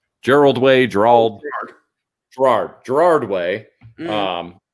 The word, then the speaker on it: Gerard Way: you say his name gerald wayne gerald gerard gerard way um like some people just have like too